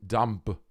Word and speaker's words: dumb: Please stop pronouncing the silent B in dumb.